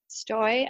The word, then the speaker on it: Stoj: name s t OJ stoy I say rhymes with joy um that's my personal